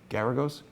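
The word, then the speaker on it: Geragos: How do I pronounce his name? Garagos?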